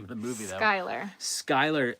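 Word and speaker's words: Schuyler: Originally derived from the surname s C Hu Y L E R. Skyler. Yeah, I I was going to say it's probably pronounced the same way.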